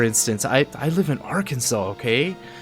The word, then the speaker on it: Arkansas: how it's pronounced but yeah Arkansas it's it's pronounced Arkansas it was named that way um after the